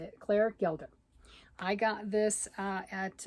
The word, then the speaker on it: Gelder: this fabulous book Robin octopus and Friends by Claire gelder yep that's how you say it Claire Gilda I got this uh at uh Joanne's I